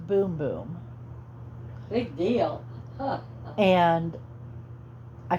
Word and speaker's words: Bum Bum: The name of this moisturizer is Brazilian Bum Bum Cream. But I did find out it's pronounced Boom Boom.